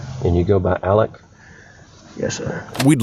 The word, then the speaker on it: Alex: He spells his preferred name A-L-E-X, yet chooses to pronounce it Alec.